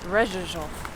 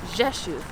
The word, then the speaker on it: Rzeszów: Tylko patrząc na tą nazwę powiedziałabym.. Rerzoożof Ale powiedziałeś, że to jest "Rzeszów" czyli za każdym razem